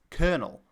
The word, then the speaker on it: colonel: Of course, the modern English way of pronouncing this French loanword is colonel, where that L has actually become an R.